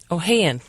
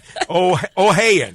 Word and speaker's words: Ohayon: Ohayon. Ohayon. Ohayon. Like a bale of hay.